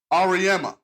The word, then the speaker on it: Auriemma: Same thing with Gino how do you pronounce his name? Gino Auriemma.